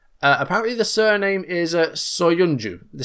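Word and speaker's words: Söyüncü: So, it is Chagla, and the surname is Soyuncu.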